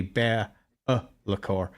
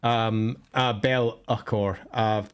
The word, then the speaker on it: Be'lakor: I mean, the addition of the apostrophe in the middle, which is generally a glottal stop. So actually, if we're pronouncing it correctly, it's actually Be'lakor. Be'lakor.